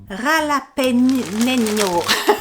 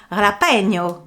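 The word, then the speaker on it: jalapeño: Alors c'est un piment, le piment Ralapeño. Je sais pas du tout si ça se dit comme ça. Est-ce qu'il n'y a pas un prononciation? Prononciation. Jalapeno. Voilà, c'est ça.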